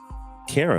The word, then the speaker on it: Cara: uh her name is it rhymes with Sarah this is uh Cara what's going on Cara